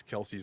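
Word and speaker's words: Kelce's: I'm more interested in the way that you pronounce Travis Kelsey's last name is that wrong no no that's correct it's correct it's just that it it whenever I see it I go that's not Chelsea yeah that looks like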